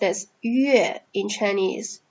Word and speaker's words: 月: So here, moon is pronounced as 月 in Chinese.